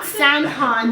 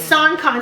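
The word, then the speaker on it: Sankon: I'm host he goes my name is not s con because it's spelled s a n k o n but it's s con so I'm on stage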